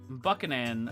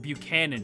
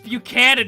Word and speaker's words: Buchanan: Uh Daisy Buck uh Buckan. I forget how to pronounce her name. Buckan. Buchanan. You idiot. Buckan. What the hell did I just say? It's Buchanan.